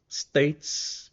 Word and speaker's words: States: da próxima palavra States na verdade States é pronunciado numa emissão só é foneticamente um monossílabo então United States nacionalidade